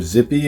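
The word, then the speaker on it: Tzippy: have t zippy or zippy and the t is silent i never understood that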